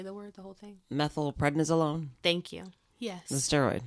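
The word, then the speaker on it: methylprednisolone: can you say the word the whole thing methyl prednisolone thank you yes the steroid yeah yes which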